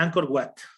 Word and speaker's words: Angkor Wat: Básicamente se pronuncia Angkor Wat, pero se lo voy a colocar acá.